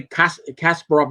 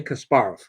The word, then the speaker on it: Kasparov: They actually they put the accent on the wrong syllable. Now I again I'm a hardcore fanatic. When I hear people say Kasparov is a Kasparov, I want to hear Kasparov.